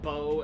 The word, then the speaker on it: beau: I think it's really fucking pompous to have a word like beau and you only pronounce one fucking syllable of it. It's B-E-A-U, but you don't I'm just fucking, it's lazy to me.